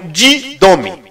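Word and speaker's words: δίδωμι: É uma palavra grega que nós poderíamos pronunciar como didome.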